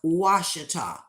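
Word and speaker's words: Ouachita: a that's the way it's spelled but it's pronounced wash you'll find old relics and artifacts if you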